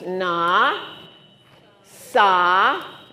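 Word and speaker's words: נסה: And it starts with the n with an ah, so it's na, sa, and this is silent, so it's nasa.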